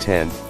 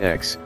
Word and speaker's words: X: question the iPhone X pronounced 10 not X was announced Tuesday in